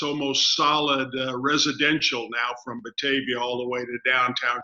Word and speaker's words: Batavia: an area called or in a town called Batavia, or how do you say that? Batavia.